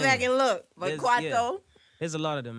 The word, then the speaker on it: Kwaito: Mapiano, there's, I don't want to say it wrong, Kwaito.